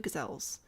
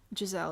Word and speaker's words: gazelle: We have one elephant and two gazels. Uh, we need more than that for them to be happy. Gazelle is technically how you pronounce it.